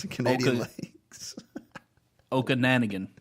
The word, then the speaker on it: Okanagan: In Lake Can you pronounce the Canadian lakes? Okanagan. Okanagan.